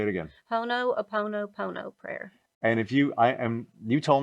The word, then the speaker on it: Ho'oponopono: Ho'oponopono prayer.